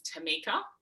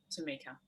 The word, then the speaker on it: Tamica: I will just quickly let you know, you pronounce my name's Tamica, just in case you say it again. It's like if someone has something in their teeth, you got to do it early. Yes. Tamica.